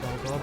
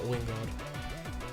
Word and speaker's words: Gligar: Silver, that I realized that it's spelled Gligar, and, you know, said Gligar. It's not Wingard.